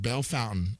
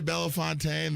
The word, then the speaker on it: Bellefontaine: That word is pronounced Bell Fountain out there in Martindale.